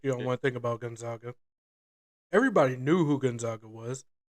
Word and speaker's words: Gonzaga: they were and nobody even knew how to pronounce it they had to the coach had to come on and say it's it's gonzaga that's why they started calling themselves the zags